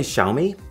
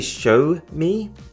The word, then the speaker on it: Xiaomi: So the way he described it to people was, if you want to say Xiaomi, then try and say show me, but say the show as if it was part of the word shower.